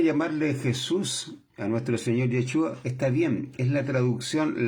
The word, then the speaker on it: Yeshua: el nombre como corresponde, porque su nombre es Yeshua, no Jesús. Jesús es la traducción de su nombre, pero no es la pronunciación correcta de su nombre.